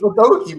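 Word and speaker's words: Udogie: It's Udogi, bro.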